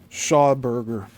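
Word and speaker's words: Schauberger: These tests may originally have been trying to duplicate only on a grander scale, a device developed by German scientist Victor Shawberger. That's spelled S C H A U B E R G E R.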